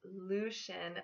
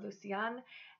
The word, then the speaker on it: Lucian: My next Lucas alternative I have is Lucian. Lucian is the English form of Lucius, which means light again. This name can also be pronounced Lucien or Lucian and can be spelled L-U-C-I-E-N as well.